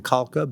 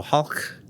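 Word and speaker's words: Khalkha: are the calc up interpreting Kalka but the Mongols pronounced KH is ha so Hulk like that Hulk Mongols to the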